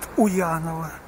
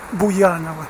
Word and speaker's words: Буянова: В автобусе произносят Уянова. Становится понятно, что это не голос человека записанный, а именно компьютерный вариант. У него не получается воспроизвести Буянова вместе с буквой «Б».